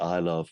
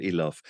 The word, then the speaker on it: Ilov: had this discussion about your name Cheryl I love versus Cheryl eloff um so I obviously want automatically to use the the Slavic pronunciation um so if you